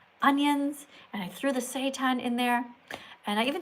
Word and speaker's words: seitan: It's spelled S-E-I-T-A-N, seitan, right?